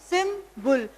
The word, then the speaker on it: symbol: अ सिंबल pronounced सिम्बुल. तो यहाँ पे आप देखेंगे कि सिंबल को हम दो पार्ट्स में डिवाइड करते हैं, सिम प्लस बुल.